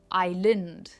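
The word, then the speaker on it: island: इट इज़ आइलैंड। आई लैंड। आई पर इसका stress है। इट्स आइलैंड।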